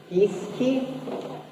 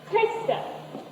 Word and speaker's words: Geeske: Uh, Geese-kee? - Geeske. Hay. Skuh.